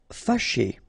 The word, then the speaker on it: fâché: Fâché. Okay, so remember that here, even if you've got this accent circonflexe on the top of A, well, technically it doesn't really change the pronunciation.